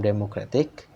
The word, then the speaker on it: democratic: But when I see is added to from democratic democratic the stress shifts to a different syllable near the end of the word.